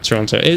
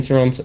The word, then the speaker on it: Toronto: Max, I don't pronounce the second T in Toronto. In Toronto, and I'm American.